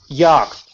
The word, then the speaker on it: yacht: Yacht. What was that? Large boat. That's large boat. Yacht. The what? Yacht. No? Yacht. Yacht. Ah, the large boat. A yacht. Yacht. Okay, very good. It's pronounced yacht.